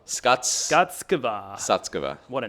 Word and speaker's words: Sutskever: Ilya Sutskever. Skutskova? Skuts. Skutskova. Sutskever.